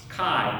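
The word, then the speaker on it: chi: Kai is gonna be like k. Okay. And to be very honest with you, like I guess when I say kai and I say kappa, I don't hear a difference.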